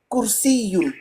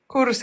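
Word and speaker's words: كرسي: Pourtant, K, c'est facile. K. Le lâcher prise, K. exactement. K, il est là, devant. K, faut pas. Oh, il faut aller le chercher. K, ne force pas. K, facile. K. Voilà, tout ce travail, exactement. Répète. Kursiyun. Eh ben voilà, très bien. Tu vois, Kaf, il est juste là. Il est devant là. Il faut pas besoin d'aller le chercher. Il sort tout seul. Kursi. Alors que Qo, c'est loin.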